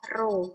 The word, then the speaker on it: rho: Itu simbolnya ini, rho, bacanya adalah rho, R-H-O.